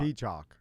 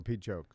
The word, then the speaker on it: Peachock: I thought it was chalk. Chalk. Chalk. Peachock. Peachock. Or peachoke. Peachock? It's no, chalk. It's Chalk. chalk.